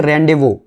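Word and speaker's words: rendezvous: तो इसे पढ़ते हैं रेंडेवो, रेंडेवो पढ़ लो या रेंडेवू पढ़ लो।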